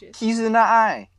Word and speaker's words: Kizuna AI: You wouldn't have to spell it if you said it correctly. That's how she says it. Keys in the eye.